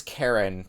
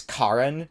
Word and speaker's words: Karin: can't unsee that as Karen I know it's like it's Karin as the pronunciation I can't unsee it